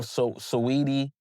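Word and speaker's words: Saweetie: I I mean no I think it is sweetie but I just the way it's spelled I always put emphasis on the sedi.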